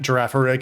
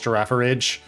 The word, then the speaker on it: Girafarig: One of the YouTubers I watch, Flag on HG, deliberately and constantly mispronounces Pokemon's names. Nice. It's like Girafarig, he calls Girafaridge.